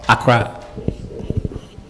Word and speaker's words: Accra: How do you pronounce that? Accra? Accra. Okay.